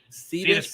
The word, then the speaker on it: Cetus: Is it like pronounced Cetus? Cetus Pro, yeah.